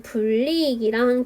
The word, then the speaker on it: 불이익: 이번에는 불이익이랑 견인력이 나와 있어요. 불이익이라고 지금 리라고 표준 발음도 알려줬거든요, 여러분. 니은 첨가가 일어나는 단어이죠. 니은을 첨가시키고 그 이후에 이제 뒤에 있는 리을의 영향을 받아서 유음화되어서 불이익이 되는 거죠.